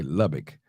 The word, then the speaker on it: Lubbock: numbers on the screen Lubbock that's how you pronounce okay Lubbock okay no I'll tell you racist a racist